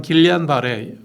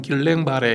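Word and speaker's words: Guillain-Barré: 그래서 영어시로 발음하면 길리안 바레, 프랑스로 발음하면 길랭 바레 이렇게 얘기하는데 프랑스에서 처음 이제 프랑스 의사들이 진단을 하고 학회지에 보고하고 이게 1920년대 초반이에요.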